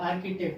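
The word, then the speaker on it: architect: आर्किटेक्ट है।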